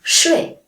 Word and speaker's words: 睡: For example, 水, the third tone means water, and 睡, the fourth tone means sleep.